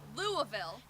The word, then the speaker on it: Louisville: We are the impossible to pronounce. Louisville. Louisville.